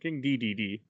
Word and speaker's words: King Dedede: yeah i'm not meaning to it's 3ds okay king dee dee dee dee yeah there you go i did not